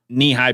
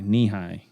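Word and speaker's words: Nehi: Kelso says Faygo nihai knee-high peach soda knee-high peach soda n-e-h-i knee-high is that if that's how you pronounce it that is my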